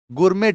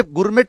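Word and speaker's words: gourmet: गुरमेट dish. इसको गुरमे गुरमेट मत पढ़ना। इसे गुर में कहते हैं।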